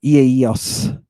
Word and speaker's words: Iaios: Iaios. Iaios, right? You don't pronounce those vowels as a diphthong.